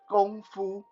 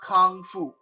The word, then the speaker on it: gongfu: learning kung fu it's the proper way to pronounce it is gongfu g-o-n-g-f-u not not kang fu i know you on